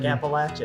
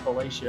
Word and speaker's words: Appalachia: It's like Appalachia. That's right. Exactly. It's not Appalachia.